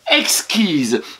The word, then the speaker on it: exquise: Exquise, on entend EX, EX. Et ensuite, quise. Alors, le qui, c'est QI. Et the, SE, parce que le S entre deux voyelles se prononce Z.